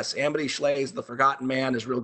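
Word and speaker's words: Shlaes: and Roosevelt is Amity Schley's book called The Forgotten Man. Her name's odd. It's spelled S-H-L-A-E-S. Amity Schley's The Forgotten Man is real good.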